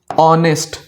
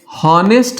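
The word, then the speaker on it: honest: जैसे आवर घंटा जब भी यह इस्तेमाल होता है या फिर ऑनेस्ट ऑनेस्ट यानी ईमानदार ये हावर नहीं होता है। ये हॉनेस्ट नहीं होता है।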